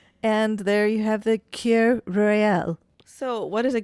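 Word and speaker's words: Kir: Well, I made for us a Cure Royale. Cur. Cure Royale. Okay. K-I-R. Cure.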